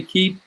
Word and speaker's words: Keap: and years to come we name the company keep for that reason because perseverance is the key to success in small business and we spell it with an A so we can own it and and make it make it our so that that's why we call it key and and you know